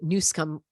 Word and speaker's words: Newsom: Number two, when there is all of the emergencies, like the state of emergency that the Newsom called for, yes, that's how you pronounce it, in California, now he instantly gets all of this federal aid.